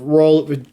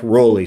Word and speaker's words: Rowley: you'd see right here this is a Jeff role actually the pronoun rapper pronunciation is Jeff Rowley so I'm sorry Jeff for saying that wrong so this the Jeff